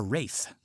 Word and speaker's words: Ralph: My name is Wraith. It's spelled Ralph, but everybody makes that mistake.